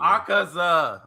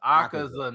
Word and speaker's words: Akaza: Aaza. Akaza Aa akaza.